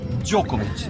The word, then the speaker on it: Djokovic: Djokovic. Novak Djokovic. Este es J. Y este es Sh.